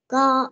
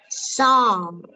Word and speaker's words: score: So. Sao lại là so? Cô nói làm sao? Từ này đọc là score. Có chữ cờ đây nè con.